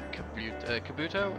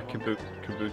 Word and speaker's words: Kubota: have brand loyalty or anything like like the Kabuto is that how you pronounce it yeah yeah Kubota yeah yeah but what you find is they'll